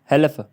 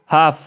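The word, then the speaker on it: half: तो इसमें जो है कलफ कलफ हल्फ नहीं पढ़ रहे काफ पढ़ रहे हैं हाफ पढ़ रहे हैं ठीक है एफ बोल रहे हैं लेकिन एल नहीं बोल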